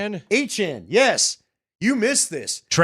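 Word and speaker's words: Etienne: Han. Yes, you missed this. Travis Han.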